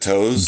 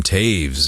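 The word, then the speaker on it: Toews: Is it toes? Jonathan Taves. Yeah Taves. Thank you.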